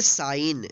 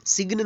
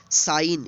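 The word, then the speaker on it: sign: एन इसको पढेंगे साइन सिग्नल नहीं तोड़ेंगे क्या पढेंगे साइन यहां पर देखिए इन है और इससे पहले क्या है जी है तो इसलिए जो है साइलेंट हो गया है इसका उच्चारण नहीं होगा इसको पकाएंगे साइन साइड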